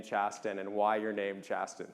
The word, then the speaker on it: Chasten: named after pronunciation is different though right so pronounced chasten everybody for the record it's chasten was a fun one growing up with um